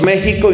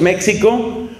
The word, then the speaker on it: México: Nosotros decimos México y no decimos México, porque esa X en realidad no es una X, es una G.